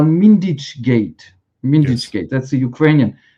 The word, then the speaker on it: Mindich Gate: And the main scandal is what in Ukraine they call Mindich Gate. Mindich Gate, that's the Ukrainian. Or when they pronounce it in Ukrainian, they say Mindich hate, right?